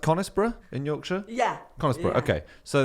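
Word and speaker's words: Conisbrough: the money thing so is it is it pronounced conisborough in Yorkshire yeah okay so there's a place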